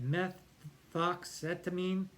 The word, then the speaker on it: methoxetamine: And methoxetamine, I hope I said that right, methoxetamine, that's how you say it, nitrous oxide, they block ketamine.